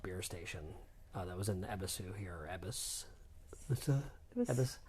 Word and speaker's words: Ebisu: station, that was in Ebisu here, or Ebis. Ebis. Sorry, there's some dispute about how you say it.